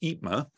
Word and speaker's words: EIPMA: industry professionals mentoring Alliance which I have been told is pronounced itma is made up of